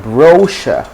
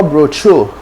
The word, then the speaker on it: brochure: we have the word brochure brochure brochure no broke you know bro true not bro anything but brochure so you say brochure